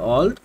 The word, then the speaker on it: Auld: তো এই যে অলড এটার উচ্চারণ হবে অলড যেটার অর্থ হলো পুরাতন